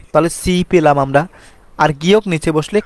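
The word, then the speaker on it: 집: restaurant সিকতাং restaurant তারপর আসি জিপ বলে অনেকেই কিন্তু এটা সঠিক উচ্চারণ সিপ অর্থাৎ বাড়ি কারণ আমি আগেই বলছি জিও সিওত এগুলো শব্দের শুরুতে বসলে সবসময় স এর মত উচ্চারণ হয়ে থাকে তারপর আসেন খিসুকসা গিসুকসা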